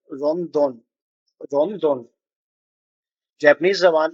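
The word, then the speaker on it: ロンドン: Japanese जबान में L pronounce नहीं किया जाता। तो जहां पर भी एल का प्रोनाउंसिएशन होता है वहां पर यह आर से उसको प्रोनाउंस करते हैं।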